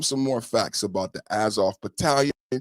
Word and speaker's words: Azov: The correct spelling and pronunciation. A Z O V Azov Brigade, formerly Azov Battalion, has documented historical roots in neo-Nazi far-right circles.